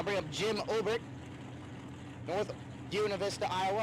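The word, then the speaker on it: Buena Vista: I bring up Jim Ober, North Una Vista, Iowa. I got yelled at for saying Buenav Vista. That's how it's spelled.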